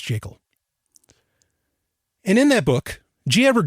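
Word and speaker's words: Jekyll: it's the creature from jacel Island yes it's pronounced jacel and in that book gever Griffin clearly states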